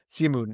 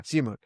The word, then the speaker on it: Simoon: Simoon is how I how you pronounce it. Yeah, Simoon.